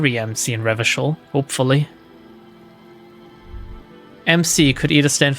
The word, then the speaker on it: Revachol: The explanation is using hard K is a fascist thing. REVACHOL.